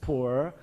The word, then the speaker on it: Pu'er: The traditional pure tea, and they are pu'er tea in China, pronounced as poor.